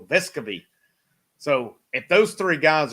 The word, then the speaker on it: Vescovi: chandler if i go vescovi as they say on it evidently been pronounced unnamed wrong the whole time so vescavi so if those three